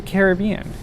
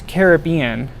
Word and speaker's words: Caribbean: This one is themed after Pirates of the Caribbean. I choose Caribbean as opposed to Caribbean because that's the way Walt pronounced it.